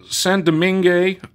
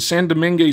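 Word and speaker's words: Saint-Domingue: to quash the St San doming I I don't think you pronounced the D the San doming slave revolution in Haiti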